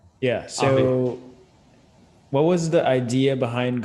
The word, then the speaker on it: Obvi: Now, when it comes to the brand Obvi, hopefully I'm pronouncing it right, correct? Obvi? Yep. Yeah. So Obvi.